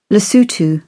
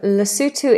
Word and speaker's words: Lesotho: Lesotho.